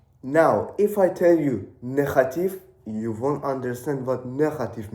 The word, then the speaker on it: negatief: Now, if I tell you negatief, you won't understand what negative means. Negative means negative in English, but it has a slightly different pronunciation because it has a G which is pronounced as G.